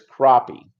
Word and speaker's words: crappie: eat crappie and now it's spelled like crappy but it's crappie and it is great